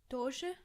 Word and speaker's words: Doge: Doge? Doge. Doe as in doe, a female deer.